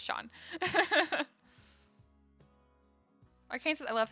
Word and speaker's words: Sean: see that okay cool it's Shawn like Sean Connery FYI okay cool you know I think that's like the the correct way to say anyway I think scene is weird so I'm glad it's Sean I can't sit I